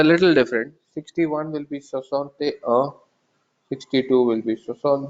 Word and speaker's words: soixante: is again unique, is soixante. 6 is sis, 16 is says, 60 is soixante.